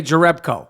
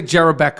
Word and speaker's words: Jerebko: is the American Way so the announcers say Jerebko yeah they don't say Jerry Beck oh no they've never